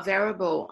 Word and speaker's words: available: I'm available it's okay yeah no I'm not available I'm I have planned I have planned on